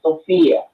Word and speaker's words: Sophia: My name is Sophia, just like the movie actress, Sophia.